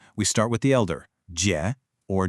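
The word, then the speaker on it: 姐: Now, this character uses the third tone. And let's be honest, this one can be a real challenge for new learners. Your pitch has to go down and then back up.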